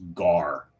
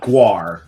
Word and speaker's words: gar: He just caught his first gar. Gar. Not guar.